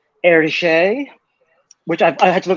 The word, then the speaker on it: Hergé: that like someone suggested that I draw like eriche which I've had to look up the pronunciation before doing this episode because I knew